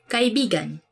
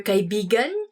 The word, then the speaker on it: kaibigan: Let me say something about this word, because you have to say it like this. Kaibigan. Kaibigan. Because kaibigan means friend. But when you twist it a bit and say it like this, kaibigan. Kaibigan. That's kind of, it's not really a natural way of saying it, but it actually means lover.